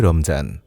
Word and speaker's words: রমজান: পবিত্র মাহে রমজান ফারসি উর্দু হিন্দি ও বাংলা উচ্চারণে এটি হয় রমজান রমাদান বা রমজান শব্দের